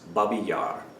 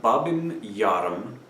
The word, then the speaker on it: Babi Yar: as possible alright so movement one is Babi Yar not bobbing yarn pom Mitnick of yet